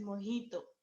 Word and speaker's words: mojito: It is pronounced as mojito. Okay, ते मोजिटो दिसते ना, मोजिटो. सो ते एक त्याचे दोन्ही व्हर्जन्स असतात, व्हर्जिन पण असतं आणि विथ ड्रिंक्स पण असतं. सो they both versions are available in the restaurant. So इट is said as मोहितो.